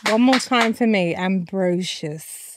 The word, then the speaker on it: Ambrosius: more time for me ambrosious is that you said it ambrosious okay so people do say Ambrosius right okay then it's ambrosious I don't even know